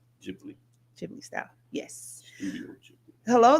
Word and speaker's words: Ghibli: It's spelled G H I B L I. Jibli.